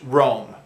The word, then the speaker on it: Rome: I know in many languages it's pronounced Roma, but in English it's pronounced Rome.